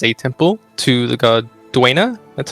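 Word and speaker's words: Dwayna: My character likes to keep his body as a temple to the god Duena. That's how you pronounce it, right?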